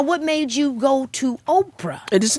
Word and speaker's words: Oprah: So it turned out on my birth certificate, it's Orpah. And then people started calling me Oprah. And so it's just a difference between the P being before the R or after the R.